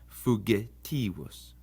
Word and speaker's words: fugitivus: The same goes for the G. It's always hard like the G in gain. It's never going to be soft like in gem. So fugitivus.